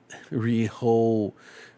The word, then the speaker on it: Rehoboam: Rehoboam.